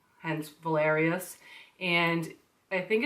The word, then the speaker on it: Valerius: His name is Valerius, and it's spelled V-A-L-E-R-I-U-S, and we call him Val for short.